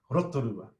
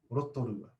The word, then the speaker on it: Rotorua: Yeah, rotorua, rotorua.